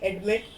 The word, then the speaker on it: admit: Like we see admit, the stress is on mit. Admit. We do not stress the first syllable, but when the second